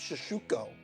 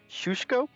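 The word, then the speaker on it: Szczucki: or the future that seems shishuko the correct pronunciation is shushko so we'll work on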